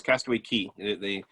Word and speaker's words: Castaway Cay: a day at sea just so you know it's castaway key some of you get upset when you say it wrong on those I get